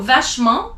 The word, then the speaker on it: vachement: So vachement, you don't pronounce the T at the end.